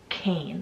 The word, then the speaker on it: Kane: very powerful sounding so this next name is Kane so spell ka and E and it's actually